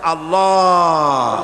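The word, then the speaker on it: الله: পাকের নামের উচ্চারণ হচ্ছে আল্লাহ মুখটা একটু গোল হয়ে যাবে বলেন আল্লাহ আল্লাহ সুবহানাল্লাহ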